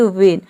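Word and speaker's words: when: कि यहां पे देखिए वेन तो न में हम एच को प्रोनाउंस नहीं करते हैं यहां पर देखिए डब्लू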